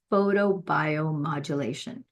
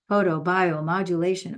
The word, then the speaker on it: photobiomodulation: ALS Al known as photobiomodulation photobiomodulation oh my goodness how many syllables is that photo bio modulation eight syllables holy cow it's a